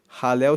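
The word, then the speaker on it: Hallel: Esses Salmos formam o chamado halel egípcio ralel se escreve h a l l e l e esse ralel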